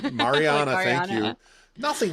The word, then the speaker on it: Mariana: I just asked how to pronounce it. Um, Mariana. Mariana.